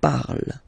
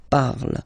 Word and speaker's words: parle: pronounce it is je parle, parle. So remember, we put it, okay, but then we don't really pronounce it, je parle, okay.